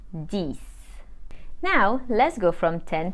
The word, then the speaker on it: dix: and we say we the number 10 is spelled D I X but we pronounce it this now let's go from 10 to 20.